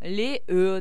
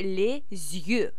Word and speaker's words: les yeux: видит это слово, да, он может прочитать это как вот там les yeux, да, например, или les yeux. А здесь читается вообще les yeux.